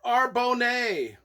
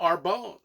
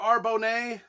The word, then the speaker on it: Arbonne: the early 90s and i was like pronouncing it the song for arbonne the entire 30 some odd years that i've owned the book a song for arbonne a and then i just